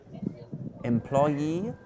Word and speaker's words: employee: endings which you generally stress e e e employee peggy e s e is okay can you